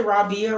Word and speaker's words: Rabia: I hope did I say Rabia right? Yes, you pronounced it right.